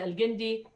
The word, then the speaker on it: Al-Jindi: And one person you've already heard from, which is Rania Al-Jindi, with a hard G.